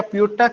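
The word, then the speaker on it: Pyotr: है पीठा करके या प्योता के पी ए ओ टी आर करके तर साइलेंट करना पड़ेगा सॉरी मदर नोट कप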